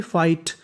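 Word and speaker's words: fight: अब देखिए जो आगे वाली मीनिंग है उसके आखिरी में लिखा है GHT, और GST हमारा कोड होता है। GST को पढ़ते हैं टा, तो मीनिंग बन गई फाइट, फाइट, फाइट का मतलब लड़ना।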